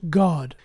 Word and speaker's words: Gad: The astrologers of Babel called Jupiter or Zeus by the name Gad, pronounced God.